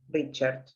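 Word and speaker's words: Richert: Entonces, él lee la biografía de Rugendas, escrita por Richard, que se escribe R-I-C-H-E-R-T, es sencillo, Richard.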